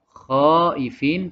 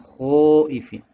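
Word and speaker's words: خائفين: Yang kedua adalah membaca huruf kha menjadi o dengan membulatkan bibir. Misalnya yang seharusnya khaifin menjadi khoifin. Tidak betul. Jadi seharusnya khaifin bukan khoifin.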